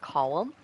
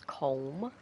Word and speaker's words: Colm: It is pronounced Colm. But the American way of saying it is Colm.